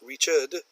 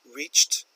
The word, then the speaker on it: reached: end of my presentation I've reached not Richard reached the end of my presentation now